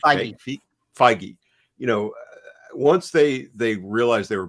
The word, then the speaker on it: Feige: How do you not pronounce his name? Feige.